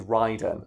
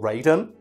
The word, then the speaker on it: Raiden: gets it worse is ryden and i'm pretty sure that's how they pronounce it in the games and this is one of those things that always that throws me off because in mortal kombat he's called raiden yeah but it's ryden in metal gear solid so